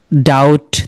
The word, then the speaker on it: doubt: ঠিক সেই আকারে দেখেন, এটা আপনারা সকলেই পারেন, DOUBT, ডাউট, তাই না? এটা সকলেই পারি আমরা, ডাউট। তার মানে দেখেন, ডাউটে DOUT, ডাউট তো আপনার লেখা তো হয়েই যায়, কিন্তু লেখার টাইমে আপনাকে ডেফিনেটলি DOUBT লিখতে হবে, ডাউট।